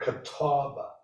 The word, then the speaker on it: Catawba: When I saw those catalpa trees, it's kind of a symbol. It's a sign. I knew there was something deeper, and They're actually misnamed. Botanist who named them mispronounced the word catawba.